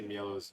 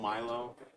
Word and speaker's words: Mielo: Why does everybody say Mielo's name differently? Yeah, Ezekiel's gonna come up with something. Nobody knows how to say it. It's Mielo. Like Mielo, Milo? What is it? Mielo. Mielo? Like me yellow.